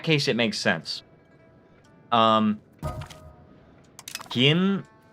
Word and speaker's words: Kim: Um, Gim, yeah, that being KIM, I I I totally agree with you there.